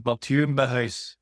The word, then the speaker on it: Matu Mah: How should I have pronounced your name? So how my given or birth name is Matu Mah that's how you say it which is quite difficult because Matu is a French name and Mah is a